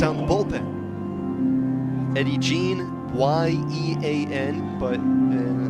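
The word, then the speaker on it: Yean: Eddie Jean, Y-E-A-N, but like so many Latin American and Spanish-speaking countries, the Y is actually pronounced as a J.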